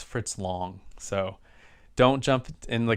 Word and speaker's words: Fritz Lang: and i apologize if i've been calling him fritz lang it's fritz long so don't jump in